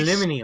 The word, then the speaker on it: aluminium: It's like, no, it's literally Aluminium. spelled aluminium. It's spelled aluminium, and you say aluminum.